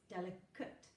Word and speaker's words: delicate: word so for example in a word like delicate it's spelt a te which on its own we know would be eight in this context becomes delicate now if you say